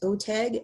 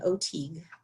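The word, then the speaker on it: OTEG: I've heard it pronounced OTAG and OTIG, but this is a little bit different grant.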